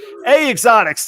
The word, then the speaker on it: EH Xotics: if you're not Canadian how you pronounce eh is a simple simple vowel that's a that's how they spell a a Exotics tonight that is Kevin